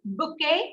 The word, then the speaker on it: bouquet: So what do you notice in this? We are not pronouncing your T. You get it? We are not pronouncing the T.